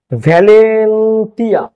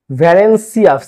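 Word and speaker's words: Valencia: ভ্যালেন্টিয়া, ঠিক আছে, উচ্চারণটা হবে ভ্যালেন্সিয়া, সিয়া, ভ্যালেন্সিয়া।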